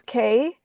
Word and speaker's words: Kehe: And my last name is K, but it is spelled ke.